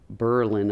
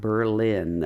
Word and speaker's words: Berlin: of a little town called Berlin Ohio not Berlin I guess they changed the pronunciation during the first world war or whatever little place